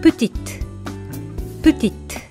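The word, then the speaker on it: petite: つけてプチッティっ男性型では語末の体を発音しませんが女性型では後ろにうがつくことで軽く発音されぷチックっとなりますねこのように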